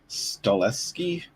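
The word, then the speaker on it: Stahelski: John Wick director Chad Chad stat how do you how do you pronounce the again? Stleski.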